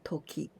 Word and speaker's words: 時: And also Nai-Formない形 and Toki. This kanji Toki, in onyomi, we can pronounce ji.